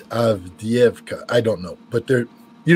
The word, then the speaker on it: Avdiivka: I think it's not Advika. I think it's Avdiivka.